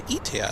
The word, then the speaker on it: Etihad: I think the only Middle Eastern carrier that we have not yet seen on the West Coast is Etihad.